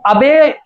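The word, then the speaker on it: obey: River is good, to अबे our teachers is our duty. इसको generally हम सभी लोग ओबे पढ़ते हैं, ज्यादातर लोग ओबे पढ़ते हैं, लेकिन इसका सही प्रोनाउंसिएशन होता है अबे, अबे।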